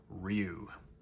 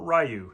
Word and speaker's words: Ryu: So, we will just uh use Street Fighter's most uh most famous player character to use, Ryu or Rayu, depending on how you say it.